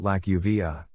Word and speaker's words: Lakofa: His chosen name was Lakofa. He pronounced it Lakuva.